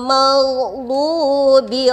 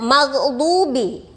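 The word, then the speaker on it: الْمَغْضُوبِ: Kemudian maghdubi. Anak-anak sering diganti huruf ghin dengan ba. Maghdubi. Padahal di sini ada huruf ghin.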